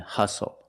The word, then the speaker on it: hustle: We also see the silent T when you have the spelling pattern S-T-L-E. Like these words, whistle, castle, and hustle.